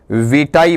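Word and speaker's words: vitae: और जो दूसरा पार्ट है आपका, ये विटे होगा, वाइटे होगा या फिर आपका वहां पर विटाई होगा। क्या बनेगा आपका, विटाई बनेगा।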